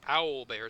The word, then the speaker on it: owlbear: with o Bear Tracks kind of interesting how he pronounces that doesn't sound like owl bear it sounds like oil bear anyway these fugitives tell